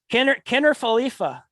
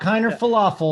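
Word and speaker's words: Kiner-Falefa: Kiner Falefa. Kiner Falefa. Yeah. Kiner Falefa. Not as bad as some of yours. Not falafel. Not Kiner falafel.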